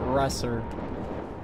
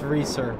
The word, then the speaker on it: Reeser: People pronounce it Resser. But it's Reeser.